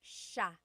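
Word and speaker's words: siya: And another tip uh just about pronunciation, it's sha sha. The s i y combination makes that sha sound. It looks like it should be pronounced sia. There are some regions in the Philippines, I believe, that say sa, but usually in the central Luzon area, it's pronounced sha sha.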